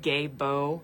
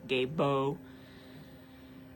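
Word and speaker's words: Gebo: Um, and it's pronounced like gay bow, like g h e, and then b o, gay bow.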